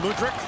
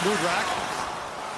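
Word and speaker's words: Mudrak: zone mudrack hustles back sorry brian mudrick our calling guitar is pronounced mood rack as levi gloves that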